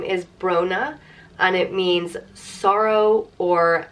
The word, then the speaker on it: Brona: and so that's where Brona comes from it comes from sorrow and Brona is pronounced bro na Brona and Brona is another